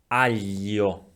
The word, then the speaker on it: aglio: If we have a L after the letter G, aglio, aglio.